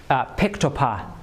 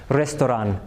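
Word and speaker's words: ресторан: So if we pronounce it according to Latin pronunciation we get ‘pectopah’ right? But if we pronounce it according to Cyrillic pronunciation it's ‘restoran’ which is the Russian word for restaurant.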